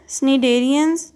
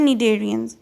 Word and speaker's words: Cnidarians: Cnidarians, Cnidarian with a silent C। अच्छा, इसको Cnidarian नहीं कहते, इसको कहते हैं Cnidarians and Echinoderms, ठीक है।